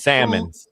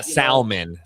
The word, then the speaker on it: salmon: veggies, a lot of salmon, you know. I've been doing my avocado toast on wheat bread. You don't pronounce the L in salmon.